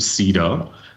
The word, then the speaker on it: CEDAR: and I understand now that is the correct pronunciation of the acronym Cedar I got a desired diagram from the concept